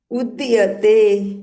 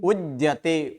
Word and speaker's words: उद्यते: मया सत्यम उद्यते। उद्यते, उदयते नहीं, उद्यते। द और य साथ में, उद्यते।